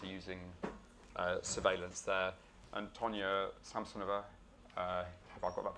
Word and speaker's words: Tonya Samsonova: And Tonya Samsonova, have I got that pronunciation right?